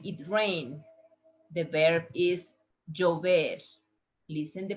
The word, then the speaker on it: llover: The verb is llover. Listen the pronunciation with the three different forms. Llover, llover, chover.